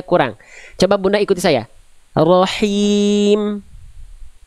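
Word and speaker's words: رحيم: Rahim. Rahim. Oke, sekarang jangan terlalu kuat juga, jangan ada kerasak-kerasaknya. Berarti ada itu melipir ke kho. Ya, coba lagi. Rahim.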